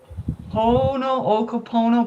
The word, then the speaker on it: Ho'oponopono: Now I can never pronounce it, but it's called the Ho'oponopono prayer. It's H-O with an apostrophe and then O-P-O-N-O-P-O-N. If you Google that, it's a Hawaiian prayer, and it's a prayer of reconciliation and forgiveness.